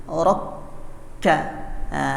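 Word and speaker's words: ركّع: Raka'a. Kata raka'a itu kafnya tasydid ya. Jadi tidak berhembus ketika di atas tasydid sini. Rokka.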